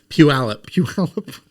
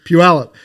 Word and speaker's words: Puyallup: hops as well so how do you say it again a Pula Puyallup like not even close Puyallup Puyallup exploded and and